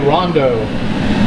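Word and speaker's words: rondeau: This is called a rondo, and R-O-N-D-E-A-U is how you spell that, and that's a French, I guess French for hot.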